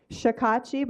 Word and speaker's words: Shakachib: Shakachib, I'm going to teach you how to say it real quick, is Sha, S-H, Sha, say it with me. Ka, Chib with a B, Chib. Put it all together, Shakachib.